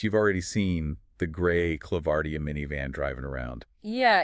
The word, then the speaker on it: ClavardIA: That's pronounced ClavardIA.